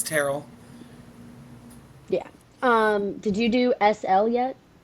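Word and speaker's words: Tyrrell: I thought it was Tyrell. No, it's Terrell.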